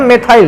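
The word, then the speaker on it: methyl: सबसे पहले इधर वाले ग्रुप का नाम, इसको कहते हैं मेथिल, या बेटा अंग्रेजी में पढ़ रहे हो तो मैं क्या बोलता हूँ, उच्चारण मेथाइल रहेगा।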